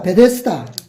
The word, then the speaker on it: 베데스다: 자, 베데스다. 제가 써보겠습니다, 오늘은. 베데스다. 이 베데스다는 아람어로 베티스다라고 하는 그 이름을 발음으로 음력한 것입니다.